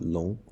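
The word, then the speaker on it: 龙: letter name means both dragon as the same pronunciation of long but as you can see on left we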